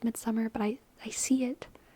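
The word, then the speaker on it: Midsommar: haven't seen Midsummer Midsummer I know it's pronounced Midsummer but I I see it and I see midar midar midar but I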